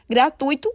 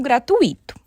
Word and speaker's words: gratuito: por exemplo nós temos a palavra rubrica sendo pronunciada muitas vezes como rúbrica gratuito como gratuito para finalizarmos vamos falar sobre alguns processos de